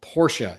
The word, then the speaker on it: Porsche: who the true enthusiasts were and the proper pronunciation. So Porsche is the proper pronunciation.